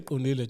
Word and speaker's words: Qondile: If you can't say Qondile, chap, you have to change the K to a Q.